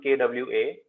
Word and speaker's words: croissant: See, the O and I in French is WA. Croissant. Okay. Okay, so it becomes KWASON.